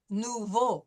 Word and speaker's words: nouveau: Nouveau, Oh, nouveau. nouveau. If it's AU or EAU, it's going to be an O sound.